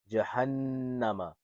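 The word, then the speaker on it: جَهَنَّمَ: Jahannama. Now this is how you will spell it out. It's the letter Jim, Fataja. Jim, Fataja. What sound does this make? Ja.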